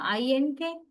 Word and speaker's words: ink: I-N-K? I-N-K, we spell it like that. What about the pronunciation? When you pronounce the word ink, nga. Letter N is pronounced as ng, ink.